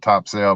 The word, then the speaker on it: Topsail: down in top cell it's spelled top sail but down there they say topsail you know what